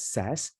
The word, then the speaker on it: SAS: as we say the SAS application application is pronounced as SAS which is abbreviated as statistical analysis system okay